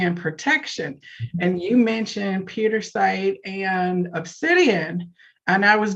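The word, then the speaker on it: Pietersite: Yes, but it's pronounced Petersite. Oh, Petersite. Okay, I was putting an extra syllable in it.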